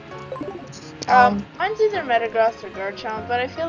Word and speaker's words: Metagross: I don't know if I would call Metagross pseudo-legendary. Or Metagross, isn't it Metagross? Well, if you want to pronounce it like meta disgusting, then it's Metagross.